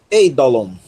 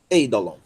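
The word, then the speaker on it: εἴδωλον: Então, vamos pronunciar isso aqui, ei, porque é uma aspiração branda. Ei, eidolon, eidolon.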